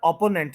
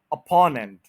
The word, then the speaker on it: अपोनेंट: ये word ओपोनेंट नहीं है, आप समझ गए होंगे। इसका स्ट्रेस भी बिल्कुल ऊपर वाले वर्ड्स वाला है। अपोनेंट, अपोनेंट, अपोनेंट।